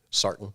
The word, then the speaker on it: Sartain: Sartain.